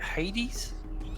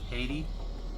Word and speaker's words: Haiti: Now, how do you say it? Hades? Haiti? Yes, that's where he was from.